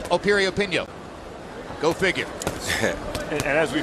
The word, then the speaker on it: Piriyapinyo: pinko opinion once again the name begins with a P but it's pronounced Appirio pin yo go figure and as